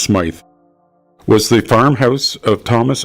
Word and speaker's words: Smith: One of the few landmarks along Smith Road, which today is usually pronounced Smythe, was the farmhouse of Thomas and Ida Saunderson.